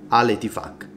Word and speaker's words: Al Ittihad: Al Ittihad. E c'è la Q finale, si legge così, e cazzacci vostri se avete un nome con un doppio senso, non lo so, vabbè.